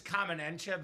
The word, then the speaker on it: Kamen Entchev: So, Matthew, my name is Kamen Entchev as well. I get Kamen Entchev, so firsthand I know how to pronounce it.